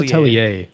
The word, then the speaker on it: Atelier: So is it Atelier? I think it's Atelier. Atelier, It's a even though it's French like ER word. at the end. Okay. Yeah. It's French. French.